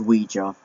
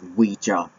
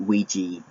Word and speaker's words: Ouija: know my facts is Ouija it's not Ouija you do not pronounce yes and no in French anyway we a Ouija board